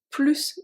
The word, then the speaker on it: plus: We are not going to pronounce the S when it's followed by an adjective starting with a consonant this time. Only consonants. Il est plus petit que toi.